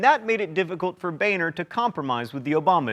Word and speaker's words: Boehner: Bolstered by 80 or so new Tea Party congresspeople, the Republicans took control of the House in 2010, and John, it's pronounced Boehner, became the Speaker of the House.